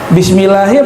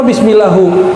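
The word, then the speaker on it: بسم الله: Coba kalau kiai kita tanya bisa jawab, kalau kitab nanya, dia nanya, ente salah baca, ini bacanya U bukan A. Bismillahi apa bismillahu?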